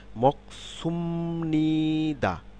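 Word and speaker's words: 먹습니다: মকসুমনিদা, মকসুম, এখানে খেয়াল করুন এই স কিন্তু কি তালেব বর্ষার মতো উচ্চারণ, অর্থাৎ স পরিবর্তিত হয়ে কি সাংসিয়ত হলো মক, মক সুমনিদা, মকসুমনিদা।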